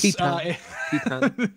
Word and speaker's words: Titane: Titane.